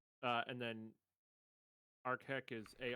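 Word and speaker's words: Arakheck: Uh, and then ARK is A R A K H E C K, but it's pronounced A R K H E C K.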